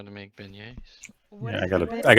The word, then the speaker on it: beignet: Albrecht's favorite food is beignets. Fancy boy. Celine will have to learn how to make beignets.